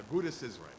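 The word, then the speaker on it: Agudath Israel: They still spelled with a TH, but they would say the Agudas Israel.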